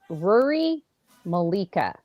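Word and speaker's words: Ruaridh Mollica: the next one is ruri Malika I looked it up I looked it up that's how you say it from the franchise uh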